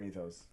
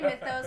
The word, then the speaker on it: Mythos: whole like notion behind who pronounces it methos mispronouncing I always say it methos is that wrong I've never heard you say methos let's add that's the list of things that Christian never says generally people say Mythos but I think you